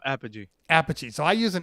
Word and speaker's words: Apogee: i used an uh is it pronounced apogee or podgy no apogee apogee so i use